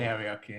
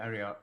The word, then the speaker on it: Arioch: You say Ariok, I say Arioch.